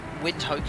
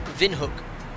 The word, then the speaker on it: Windhoek: well cont appr sorry wind Hoke is pronounced Vin hook and it means wind